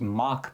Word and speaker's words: Mach: And so, what's happening here, these are called I believe the the proper pronunciation, Marty can correct me if I'm wrong, is Mach bands, m a c h.